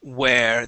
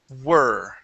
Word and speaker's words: were: a great time okay let's check out the word were all right uh you're reading this word here as where they were having a great time instead of where that is were they were very good